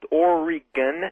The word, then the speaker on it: Oregon: You got the word answer for night 2 out here in Portland, Oregon. Yes, sir. I'd first like to tell everybody it's pronounced Oregon, not Oregon.